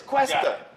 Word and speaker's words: Cuesta: is, Cuesta.